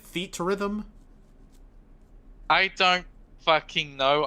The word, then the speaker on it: Theatrhythm: Theatrhythm? I don't fucking know. I always pronounced it Theatrhythm because that's actually Those are actually words, yes.